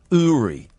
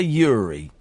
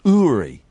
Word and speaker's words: Uri: His name is pronounced Uri. Uri. We all want to say Yuri, but it's pronounced Uri.